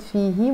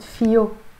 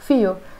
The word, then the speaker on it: فيه: But in Lebanese Arabic we don't pronounce it فيه, we pronounce it فيو. This H is pronounced as a ي, and we're changing the he into a O. فيو, literally you are saying in it.